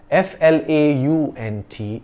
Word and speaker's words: flaunt: clothes for the concert f-l-a-u-n-t flaunt rhymes with taunt and daunt to flaunt means to